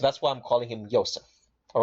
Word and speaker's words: Yosef: world using the man they called Yosef so people will call him Joseph but I'm trying to pronounce the name right because the letter J doesn't exist all right it's something